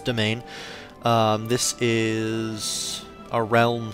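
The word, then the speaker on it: demesne: here's our piety our domain size that's how you pronounce that word it's domain as in domain as you know whatever that's where it comes from but it's domain um this is a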